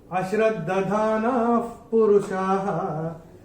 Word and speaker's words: अश्रद्धधाना पुरुषाः: और ये जो विसर्ग आ रहा है, विसर्ग के बाद का अक्षर है प, और विसर्ग के बाद जब प या फ आता है तो विसर्ग का उच्चारण होगा फ, जैसा फूंक मारते ना वैसे। तो ये हम अपनी किताब में विसर्ग को स्ट्राइक ऑफ करके ऐसे फ लिख के रख सकते हैं।